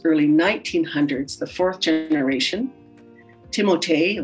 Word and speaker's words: Timothée: 1859 to late 1800s, early 1900s, the fourth generation, Timothée or Timothy, Chimodi is what how the Cree people pronounced it, Chimodi, was my chaplain and